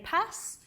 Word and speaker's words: PaaS: a problem in that I don't actually know how to pronounce it correctly uh I've surveyed a few people and and uh some people say pass uh for this p word uh talking to my